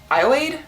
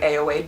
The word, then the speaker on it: Ayoade: It was directed by Richard Ayoade. I'm pretty sure it's pronounced that way. It looks like Ayoade, but I've heard it Ayoade.